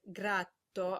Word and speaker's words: gratto: In Italian, if a consonant is doubled, it's actually pronounced twice as long. So grato and gratto are actually different words with different meanings.